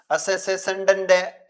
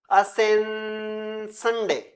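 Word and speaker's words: Ascension Day: असेसेशन डे, Easter डे, या good फ्राइडे, या Christmas डे? इसका शुद्ध प्रोनाउंसिएशन किया जाए तो क्या होगा? असेंशन डे, ऐसा होगा।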